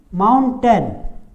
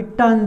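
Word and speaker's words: mountain: अब यहाँ पे टेन नहीं पढ़ना है, इसको टेन नहीं पढ़ना, गलत उच्चारण हो जाएगा। इसको माउंटन पढ़ेंगे, माउंटन। आ का उच्चारण यहाँ पे आ रहा है, आ का उच्चारण आ रहा है, इसीलिए इसको माउंटन ही पढ़ेंगे।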